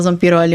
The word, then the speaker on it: Zampiroli: Se fala Zampiroli, mas é assim que se escreve, com 2 R's.